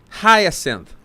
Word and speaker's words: hyacinth: of me how do you say that hyacinth hyacinth Megan is the real highest and Hyacinth Bucket